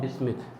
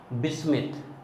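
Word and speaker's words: bismuth: नापास सब विस्मित, ना पास सब बिस्मिथ, जैसे आपको पढ़ना हो, ठीक है। न्यूज़पेपर आज सब बिक गए। Nitrogen, phosphorus, arsenic, antimony, बिस्मिथ, या इंग्लिश के अकॉर्डिंग जाओगे बिस्मथ भी बोल सकते हो।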